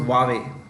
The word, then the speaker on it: Huawei: Chief Financial Officer of Huawei yeah Wally it's pronounced Huawei uh was arrested in Canada uh upon the